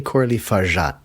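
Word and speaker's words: Coralie Fargeat: Now, as always, I'm going to get you to provide me with the pronunciation. I think Coralie Farjat. You think that's right? I think so. I would say Coralie Farjat.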